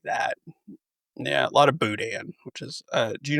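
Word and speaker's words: boudin: For the audio listeners, I'm just googling what how do you say it again? Uh, budan.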